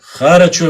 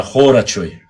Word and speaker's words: Хорачуай: Харачуай восстановили свой боевой башенный комплекс. Как я мог забыть Хорачуай. Правильно говорить не Харачуай, а Хорачуай. Хорачуай.